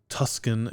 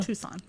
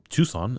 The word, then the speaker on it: Tucson: This kicks off uh April 28th in Tuscan, Arizona. Tucson. Tucson is how you say that.